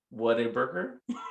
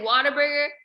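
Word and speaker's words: Whataburger: What a burger. I said what a burger. What? You say water burger. What a burger.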